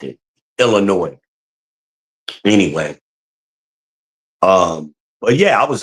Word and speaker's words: Illinois: So, I hate when people say Illinois. You don't pronounce the S. It's Illinois, right? It's the way I've always heard it. Even when I lived in Chicago, that's the way the natives pronounced it. Illinois.